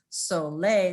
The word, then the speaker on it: Solle: named the company soul which everyone calls so lay because it it rhymes with the word s-o-u-l soul right that's how he meant it but i like it